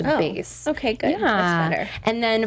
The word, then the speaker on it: BÉIS: And these products are called BÉIS. That's the name of her new lifestyle brand. So, go check it out. Short for like basic? No, it's spelled b e i s, but pronounced BÉIS.